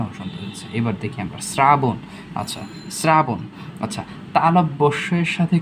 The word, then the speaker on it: শ্রাবণ: তালব্যস্যের সাথে যদি র যুক্ত থাকে, যেটাকে প্লাস চিহ্ন, র যদি যুক্ত থাকে, তাহলে কি হবে? দন্তস্য। এই যে শ্রাবণ, দন্তস্য হয়ে গেছে।